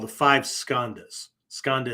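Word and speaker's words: skandha: called the five skandas skanda is spelled s-k-a-n-d-h-a skanda right which means again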